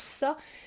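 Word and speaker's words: 사: très appréciée parce que dans sa prononciation sino-coréenne il se prononce sa ce qui est proche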